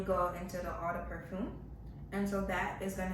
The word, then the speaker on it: parfum: So it's kind of it's spelled the same, but when you see it on the tag, it'll be worded a little differently. P-A-R. So yeah, it's Parfum. Yeah, no E at the end.